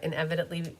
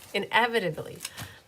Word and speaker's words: inevitably: always something that I inevitably inevit inevit whatever that word is inevitably forget to do inevitably inevitably I'm putting an extra solid syllable in there so guys can you